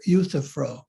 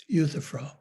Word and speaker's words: Euthyphro: interested i i would recommend reading plato's dialogue euthyphro euthyphro sorry i didn't give that word to you but i'll spell it e you th y p h r o euthyphro where there's a discussion very deep discussion very